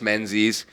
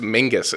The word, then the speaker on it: Menzies: And then there's Tobias Menzies, who's in like every British production. Jared Harris. I think it's actually pronounced Mingus, isn't it? It's like spelled weird. Yeah, it's fucking spelled super weird.